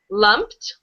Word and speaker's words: lumped: Um, this word lumped. Lumped. Lumped. Yeah. So, I know it's difficult with the ed ending. Sometimes you pronounce it, sometimes you don't. I totally understand. So, this word is just uh lumped.